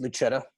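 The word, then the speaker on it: Lucetta: the fact that um I'll pronounce it luchetta since we're in uh Italy um she's Julia is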